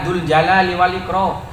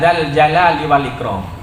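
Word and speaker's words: ذا الجلال والإكرام: kenapa kok begitu Iya ngajaknya salah jangan ya Dul Jalali Wal ikro yang benar ya dzaljalali Wal Ikrom dibacanya beda harokat ditegur oleh Wali sampean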